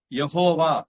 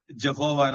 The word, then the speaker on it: யகோவா: ஆக்கிடுவாங்க இயேசுதான் சரியான இது யகோவா அப்படிங்கறதுதான் சரியான இது ஜீசஸ் ஜெகோவா எல்லாம் இங்கிலீஷ்ல மாத்திடுவாங்க தமிழ் பைபிள்ல எழுதின ஆளு